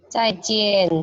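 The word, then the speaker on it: 再见: Jadi ini kan bacanya tulisannya cian, tulisannya jian. Tapi kalau dibaca menjadi di sini. Jadi cai jian, bukan cai jian atau cai cian, tidak ya. Ini akhiran yang ian itu semua itu menjadi ian bacanya.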